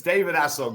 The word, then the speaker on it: David Essel: It's David Essel.